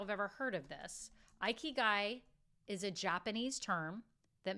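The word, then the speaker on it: ikigai: know if you'all have ever heard of this II guy is a Japanese term that means reason for being it's spelled i k i g a i it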